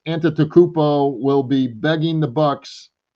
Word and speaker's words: Antetokounmpo: And I think Giannis Antetokounmpo. I can't believe I finally learned how to say his name. Giannis Antetokounmpo.